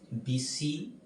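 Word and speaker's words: Bysshe: বিতে হচ্ছে এটা দুইভাবেই উচ্চারণ করা যায়, বিসি, আধুনিক উচ্চারণে শুধু বিস বলা হয়, তবে আমরা বিসি বলতে পারি, পার্সি, বিসি, শেলি, যদি আমরা প্রচলিতটা ধরে নিই।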